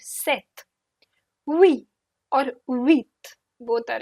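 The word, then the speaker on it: sept: times I've heard CE set set p is silent this p is silent set we or with both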